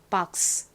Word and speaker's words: box: 기억 받침 생기면서 박스 저희는 박스 이렇게 스 발음을 되게 세게 하지만 영어식 발음은 스 발음이 바람 빠지듯이 굉장히 약하게나요 자 들어보세요 박스 박스 한 번만 따라해 볼까요 끝을 약하게 박스 하나 기억해 두셔야 될